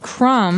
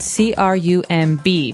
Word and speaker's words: crumb: to remind everyone that the word crumb has a B on the end. C R U M B. But we don't pronounce the B.